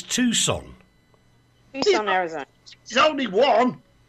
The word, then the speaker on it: Tucson: It's Tucson.